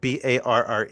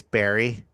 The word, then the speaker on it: Barre: God, it's like Barre. It's Barry.